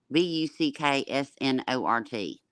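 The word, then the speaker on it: Bucksnort: u c k s in hold on ort b-u-c-k-s-n-o-r-t Buck snort that's right you know why because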